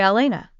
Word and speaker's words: Alayna: It's spelled Alayna, but you can just say Elena.